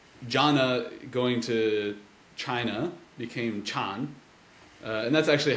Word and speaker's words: Chan: uh and so Jonna going to China became Chan and that's actually how it's pronounced now in Han China but uh probably